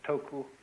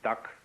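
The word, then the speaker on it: 德: of this word death the Japanese pronounce it toku these Cantonese duck and the northern mandarins approximately dirt and in the section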